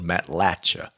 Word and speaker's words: Matlacha: So it's Matlacha, like it's got a Y on it, C-H-A-Y, Shay.